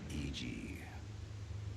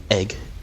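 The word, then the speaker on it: Iji: Cuz EG gets done wrong. Oh I need to get the map. Eg. No, not egg.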